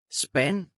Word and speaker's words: spand: Let's try the words with ND combination. Listen well so you will notice the silent D. Spand. Pind. Vand. Hånd.